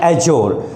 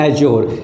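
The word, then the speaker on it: adjure: एब्ज्योर एंड एज्योर, यहाँ पर डी जो है उसको स्ट्रेस नहीं करना, मतलब it will not बी रेड आउट, इसको नहीं पढ़ना है।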